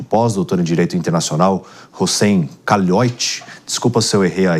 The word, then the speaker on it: Kalout: Errei na expressão ou não, na pronúncia? Khalioiti.